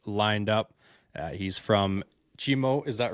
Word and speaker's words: Cheemo: Uh he's from Chimo, is that right? Chimo Lodge. Correct pronunciation?